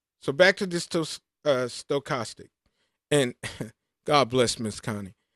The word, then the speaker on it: stochastic: I would trip up over this and she'd say, Derek, think about the stove. I'm going to the stove. It's stochastic.